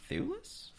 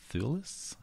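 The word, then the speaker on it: Thewlis: ] from this far David t h w l i s thulis thulis I don't know he's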